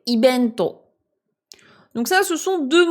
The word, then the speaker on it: イベント: Et ce qui peut paraître un peu bizarre ici, c'est l'usage du son B au lieu du V. Je vous rappelle que pour les Japonais, c'est le même son. Ils le prononceront dans tous les cas comme un B. Ils arrivent pas à le prononcer comme un V. Donc ici, event, c'est ibento.